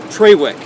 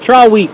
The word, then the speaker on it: Triwick: Treywick. No, it's not. It's Triwick. The Scottish.